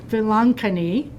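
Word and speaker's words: Velankanni: while her current dissertation explores devotion to the lady of I'm going to get the name wrongani Vilankani an Indian Marian devotion in Mauritius as a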